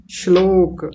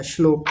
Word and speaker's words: श्लोक: आचार्य जी मैं बताऊं हां जी बताइए श्लोक श्लोक बहुत बढ़िया श्लोक ठीक है और कौन बता रहे थे बताइए